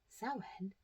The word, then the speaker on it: Samhain: That is because Sen is the last of three harvest festivals.